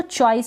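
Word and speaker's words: choice: फिर इसको चॉइस पढ़ेंगे, सी एच को च पढ़ रहे हैं, क्या पढ़ रहे हैं च, चॉइस, और सी को स पढ़ रहे हैं यहाँ पर, और ई को हम प्रोनाउंस नहीं कर रहे हैं, लास्ट में है इसलिए।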